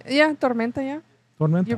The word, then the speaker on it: Tormenta: Yeah, Tormenta, yeah. Tormenta. You pronounce it See, really I'm part good.